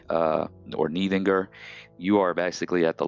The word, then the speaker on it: Níðingr: You have Old English Níð or Níð, that D sound that kind of has a bit of a, you know, hard TH sound at the end of it. So it's like Níð. You'll see it spelled N-I-T-H-I-N-G. You'll spell it with the N-I and then the Icelandic sound for the. It's kind of the same pronunciation as in beneath, or, you know, the, that sort of pronunciation.